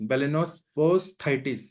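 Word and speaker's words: balanoposthitis: बेलेनोस, एक मिनट में प्रोनाउंस करता हूँ, बेलेनोफोसाइटिस, साइटिस ऐसे है, एस्थाइटिस, बेलेनोस्पोस्थाइटिस ऐसे इसका वर्ड है।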